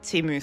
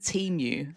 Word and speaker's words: Temu: I said, I think it's pronounced Timu, but I said to my friend's parents, I pronounced it Timu, like emu, in front of them once, and they're not native to Australia.